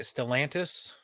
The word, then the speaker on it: Stellantis: Stellantis Koi?